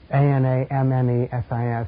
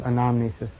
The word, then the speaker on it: anamnesis: A-N-A-M-N-E-S-I-S, anamnesis, or any way you want to pronounce it.